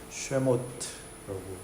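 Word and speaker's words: שְׁמוֹת: 히브리어로는 이렇게 오른쪽에서 왼쪽으로 읽는데 쉐모트라고 읽습니다.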